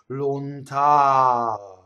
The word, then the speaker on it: lontano: Lontano. See, the ow is very, very, very long. The N does not interrupt it.